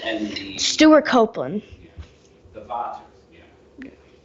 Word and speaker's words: Vater: the Vaters. Yeah. I think in German it's pronounced Vater, but I've heard some people say like along the lines of Vader or something like that.